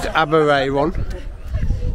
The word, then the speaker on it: Aberaeron: I think they pronounce it Aberaeron.